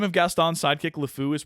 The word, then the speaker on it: LeFou: name of Gaston's sidekick lefou is pronounced just like the French words meaning the idiot the fool or the insane um just a couple